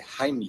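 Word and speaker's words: Heimlich: video la maniobra de Jaime que por cierto esa es la pronunciación correcta porque está en alemán la mayoría de ese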